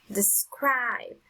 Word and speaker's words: described: first syllable number five described described the strongest sound is on the second syllable number six listen November